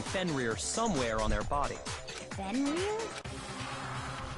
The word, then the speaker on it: Fenrir: Fenrir? Fenrir. So I was saying it right.